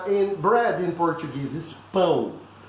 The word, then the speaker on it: pão: Okay, and in bread in Portuguese is pão. It's a nasal sound, as you can see here, this syllable, "oh."